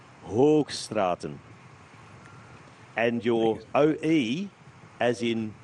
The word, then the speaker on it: Hoogstraten: And a double O in Flemish does not say oo. It says O. Hoogstraten.